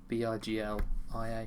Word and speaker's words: Biglia: I think the G and the L makes the G silent.